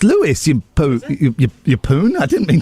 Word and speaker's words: Lewis: That's Louis, isn't it? No, it's it's pronounced Lewis.